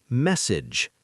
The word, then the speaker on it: message: First word, message. Stress the beginning. Short E like bed.